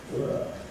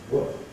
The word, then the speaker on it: were: Strong form were, weak form were. They were sitting still.